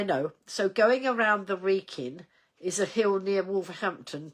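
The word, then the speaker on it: Wrekin: Going around the wreckin is a a hill near Wolver Wolverampton. Oh, right. Okay. Um, it's pronounced Reekin, right? So now I know. So going around the Reikin is a hill near Wolverampton to Shrewsbury route.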